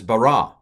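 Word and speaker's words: ברא: the pronunciation is concerned so this is bara so the accent is on the ra ra ra ri no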